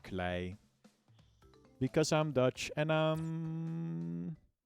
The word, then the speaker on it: Klei: It's actually pronounced Klei. Because I'm Dutch and I'm awesome. It's spelled K-L-E-I, right? That's like straight up the Dutch word.